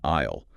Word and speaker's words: aisle: The spelling of the word aisle. Yes. It is spelled a i s l e. It has a completely silent s.